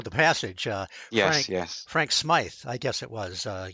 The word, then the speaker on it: Smythe: Frank Smythe, I guess it was. I guess that's the way you pronounce his name. He saw. Smythe, yeah.